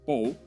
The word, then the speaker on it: Pol: lead whose name is paul or paul how do we pronounce it correctly in spanish yeah paul's fine i would say paul if i was speaking catalan or spanish but but yeah i